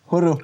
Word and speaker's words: Horo: ne me trompe pas, Horo. Voilà. Magnifique. C'est ça? Super. Avec un R roulé. comme ça.